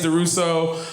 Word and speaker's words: DuRousseau: It is Durousseau. But when I'm drinking red wine, I like to pronounce IT CHASSEUR DUROUSSEAU.